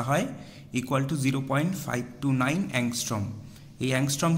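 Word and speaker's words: ångström: এই এংস্ট্রম কি? এটার উচ্চারণ হচ্ছে অংস্ট্রম।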